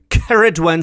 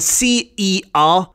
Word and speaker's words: Ceridwen: The standard version would be Ceridwen, C-E-R-I-D-W-E-N, Ceridwen. And it's also spelled with a double R occasionally as well, C-E-R-R-I-D-W-E-N.